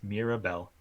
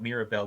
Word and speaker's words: Mirabel: with that show um her name is interesting because it rhymes with miracle to an extent um but also like